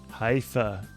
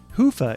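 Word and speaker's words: Hyvä: Talk Commerce is sponsored by Haifa, or as the Europeans say, Hoofa. Or the right way to say it, Hoofa is rapidly becoming the biggest Magento front end after Luma.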